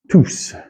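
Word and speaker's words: τούς: Remember, this is considered a diphthong here. Exactly. Tous.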